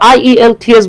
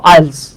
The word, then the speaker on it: IELTS: হলো ভাইয়া একটা অ্যাক্রোনিম সো এটা আই ই এল থ্রি এস বলবো না আমরা এটা বলবো আইলস ওকে আশা করি বুঝতে